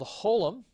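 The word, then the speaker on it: holam: the next one is a long oh and this is called Holum and so you're gonna have your letter and then you're going to have this dot high and to the left of the letter and again this is a long o as a note and so again this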